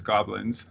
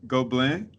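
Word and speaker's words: Gobelins: mispronounce this school I in my mind it's goblins because that's how it's written but go bling um how is so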